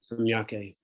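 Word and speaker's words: saṁjñake: Samjnake, I think it's called Gyake, just like Yaga, like JN is pronounced Gya, like Samyake. Samyake, thank you.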